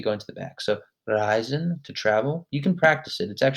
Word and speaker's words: reisen: When you say reisen, whenever you see an EI, like schreiben or reisen or spazieren, whenever you pronounce the EI, your tongue should be going to the back of your mouth.